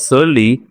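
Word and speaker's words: surly: जैसे the shopkeeper give us सर्ली रिप्लाई when I was asked for discount.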